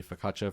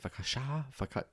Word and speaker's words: focaccia: I'm going to get spaghetti and meatballs, and I'm going to order a focaccia for, is that how you say it? Focaccia?